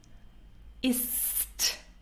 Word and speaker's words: ist: The third person is ist. So is is and with a T ist.